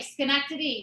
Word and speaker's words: Schenectady: city's name like i've been there before uh schenectady no there we go was that it i think so yes okay schenectady yes schenectady uh schenectady new york yes okay